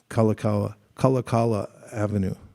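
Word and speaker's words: Kalākaua Avenue: on Waikiki at Waikiki kalakawa kalakala Avenue they say it wrong so then as I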